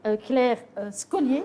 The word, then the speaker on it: Claire Scollier: Alors, avec nous, ce soir, honneur aux dames, nous avons Claire Scollier, si je prononce mal votre nom.